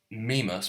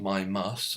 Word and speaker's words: Mimas: Mimus, pronounced myimmas or mimus, adjective of right, let me guess.